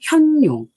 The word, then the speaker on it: 見龍: 구이는 현이라고 읽어요. 현용. 그러니까는 아까 잠하고 반대로 이제는 나타난 거야. 보여. 그래서 볼견자로 읽지 않고 나타날 현자 해서 나타난 용이야.